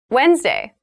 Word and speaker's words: Wednesday: january 1st tuesday january 1st tuesday january 1st wednesday wednesday wednesday so wednesday is the middle day